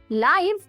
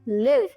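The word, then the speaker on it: live: अगला होमोग्राफी बहुत ही इंटरेस्टिंग है ये है लाइव या लिव वर्ड एक ही है स्पेलिंग भी एक ही है बट प्रोनंसिएशन और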